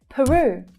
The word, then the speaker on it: Peru: Peru. Peru. Another place on my bucket list. First syllable unstressed, second syllable stressed.